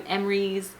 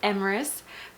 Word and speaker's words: Emrys: When I go to like his appointments and everything, they're like calling him Emrys. Like, I'm like, no, it's Emrys, 2 syllables.